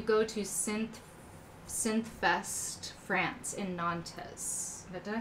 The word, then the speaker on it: Nantes: You'll go next year, and it rhymes with aunts, Nantes. Yeah, we don't pronounce the S, which makes no sense.